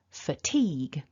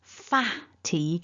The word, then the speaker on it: fatigue: the word fat so you might be tempted to say an ah instead of a weak schwa so it's not far teague it's f so that's